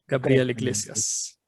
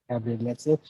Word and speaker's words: Gabriel Iglesias: If we are going to go full the correct pronunciation. Gabriel Iglesias. Gabriel Iglesias.